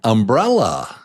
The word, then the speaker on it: umbrella: Number 2 is the strong syllable. Brell. Umbrella.